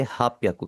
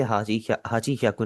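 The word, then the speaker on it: 八百: आप इसे पढ़ेंगे हाप याकू। कभी भी आपने इसे हाची ह्याकू नहीं पढ़ना।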